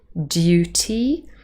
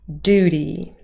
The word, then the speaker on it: duty: not be very Americans instead it is Duty Duty so you can hear it's quite a soft sound almost sounds like a dirt really in the second syllable and one more example